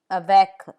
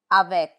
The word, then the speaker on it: avec: Some final consonants are pronounced. Let's take a look at those. Q, like in cinq, 5, cinq. C, like in avec, with, avec.